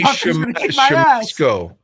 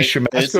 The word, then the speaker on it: Siemaszko: Casey Siemaszko. I think was his name. Casey Siemaszko. Is that how you pronounce it?